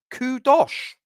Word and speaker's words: Kudus: Still from West Ham voice says Kudosh. Kudosh? That's a new one. I've not heard that pronunciation.